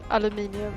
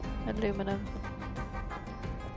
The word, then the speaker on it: aluminium: In most European countries, aluminium is the way you say it. Like, it's spelled aluminium. But in American, well, in English in general, aluminum.